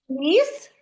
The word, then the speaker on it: ліс: В слові ліс звук приголосний. Да. Ль. Він м'який і позначається двома рисочками.